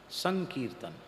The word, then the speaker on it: संकीर्तन: के अनुरूप होता है तो कीर्तन का ककार पर में है इसलिए अनुस्वार का उच्चारण नकार के जैसा होगा तब होगा संकीर्तन वैसे शब्द है सम कीर्तन पर वि अनुस्वार होकर फ उसका उच्चारण शुद्ध उच्चारण होगा संकीर्तन संकीर्तन क्या है कीर्तन